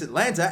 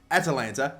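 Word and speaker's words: Atalanta: result another win against Atlanta and oh wait I think I pronounced it wrong Atlanta there you go this is not an American city this is Italy but unfortunately we lost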